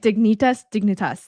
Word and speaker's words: Dignitas: Dignitas.